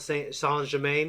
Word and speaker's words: Saint Germain: Count Saint Germain. It's like Saint Germain. It's spelled that way.